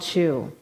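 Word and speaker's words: Tailtiu: To honor his foster mother called Chu. Now, if you don't know anything about Irish spelling, that is how you pronounce it.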